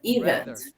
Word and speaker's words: rather: Rather. Lembre-se da pronúncia do R. Rather.